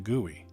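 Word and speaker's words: GUI: pel Arts the letters g u i is pronounced to gooy this is an acronym for graphic user interface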